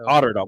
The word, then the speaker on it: Otterdahl: Otterdahl? Yeah. I like how you're saying it. So Otterdahl. Well, it's spelled Otter and then Dahl. Yeah, it sounds so like Otterdahl.